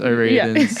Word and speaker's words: O'Riordan: Is that Dolores O'Riordan?